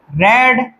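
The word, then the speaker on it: read: रीड, रेड और रेड। आप इसको इसकी स्पेलिंग तो लिखते हो रीड। लेकिन आप इसको प्रोनाउंस क्या करते हो? रेड।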